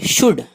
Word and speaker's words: should: SHOULD should, should یہاں L silent ہے, should چاہیے.